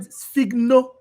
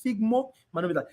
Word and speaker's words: sphygmomanometer: I call it sphygno. I always put N here. So, but the right pronunciation is sphygmomanometer.